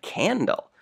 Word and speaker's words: candle: When the next letter is anything else, not I, E, or Y, then the C will sound like K, K in the word like candle.